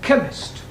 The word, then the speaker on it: chemist: No, the C-H is pronounced K.